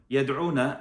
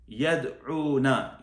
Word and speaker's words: يدعون: So from these two, the women one, the female one, يدعون, actually rhymes with yansurna. يدعون, yansurna.